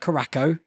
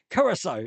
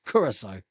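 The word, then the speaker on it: Curaçao: Blue, not Caraco. Curacao. It's called Curacao. For years, I've been pronouncing it Caraco, but no, it's Curacao.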